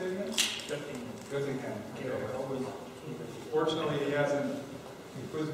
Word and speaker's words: Göttingen: Göttingen.